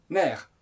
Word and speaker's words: nerfs: mot nerfs au pluriel ça s'écrit nrf mais on prononce mer les nerfs quand on